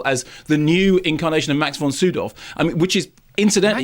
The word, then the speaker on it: Max von Sydow: by most people as the new incarnation of Max von Sydow. I mean, which is, incidentally... Max von who? Sydow. We've done this before. That's how it's pronounced. I know. Max von Sydow.